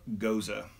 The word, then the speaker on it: Gose: you can see here it tells you how they pronounce it goes uh and then it has a little blurb about the beer I wanted to read it to you so this is our interpretation of Goza pronounced it goes uh a traditional